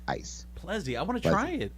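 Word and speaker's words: Plezi: Plezzi. One more time. I'm sorry. Spell it again. P as in Paul, L as in Larry, E, egg, Z, zebra, I, ice. Plezzy.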